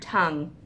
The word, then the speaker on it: tongue: Okay, so what do we hear in the word tongue? T-ung, tongue.